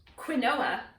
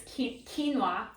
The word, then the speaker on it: quinoa: Here we've got some quinoa. Just kidding. It's quinoa. Quinoa is how it's pronounced.